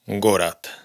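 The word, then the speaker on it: город: O esta, que significa ciudad, la pronunciaríamos Gorat.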